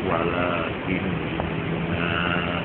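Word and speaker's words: وَلَٰكِنَّ: Itu ternyata yang ada alifnya itu walakinna itu tidak boleh dibaca panjang.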